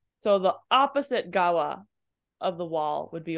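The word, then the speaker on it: 側: word gawa means side this same kanji can be pronounced as soba just just letting you know that randomly um but it's pronounced as gawa on the next page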